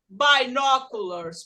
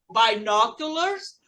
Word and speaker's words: binoculars: Gente, por que aqui não é binoculars? Porque aqui não é bi, aqui é bin.